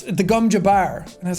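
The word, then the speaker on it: gom jabbar: I got to hear how everything was pronounced properly. Like the gum, I kept calling it the gum jabber, which is the needle up to the neck. And it's the gum jabbar.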